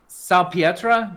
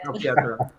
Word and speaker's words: Salpietra: His editor, Melissa Salpietra. Did I say it right? Yes, very good. Salpietra.